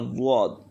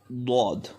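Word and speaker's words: ضاد: Next one, the zwad. So the zwad pronunciation is difficult. So zwad pronunciation is that zwad comes out from the sides of the tongue and the roots of the upper molars. Dwad.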